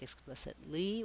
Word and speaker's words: explicitly: vowels or i may tend to want to say it more like explicitly with more stress and i don't want to be stressed just light and short italy italy so practicing